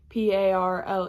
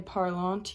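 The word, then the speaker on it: parlent: there and then parl even though it just sounds like p a r l e that one is p a r l e n t but you don't say parlant you just say parl.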